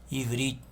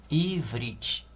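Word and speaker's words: עברית: aqui está em português na língua hebraica é pronunciado assim ó ivrit ivrit que é hebraico né ou Hebreu aramaico é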